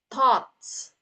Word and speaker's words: thoughts: Jadi diingat-ingat kalau pengucapannya itu seperti kalau dalam bahasa Indonesia kita tulisnya T-O-T-S.